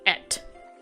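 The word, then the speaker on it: Ette: But it wouldn't be spelled like E.T., it'd be spelled like E-T-T-E. Like, you know how like female names, like French names or something like that, they add E-T-T-E.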